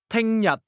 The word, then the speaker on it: 聽日: Notice how the tone goes from very high to very low. Listen and repeat again to practice your pronunciation. 聽日， Do you remember how to ask, how about you?